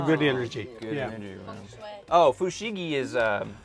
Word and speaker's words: feng shui: Isn't that a part of Swang Fei? What's Swang Fei? What's Swang Fei? I can't even say it right now. That where you get a room arranged all just right. Feng Shui.